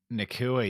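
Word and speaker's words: Nacua: right now Parker nakura is that the nakua yeah is how they're pronouncing it yeah you're talking about next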